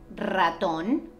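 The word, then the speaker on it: ratón: the strong sound well when the r is at the beginning of the word like raton it also happens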